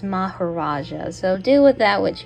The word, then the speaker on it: Maharaja: Well, I guess according to Google Translate, it's actually pronounced Maharaja.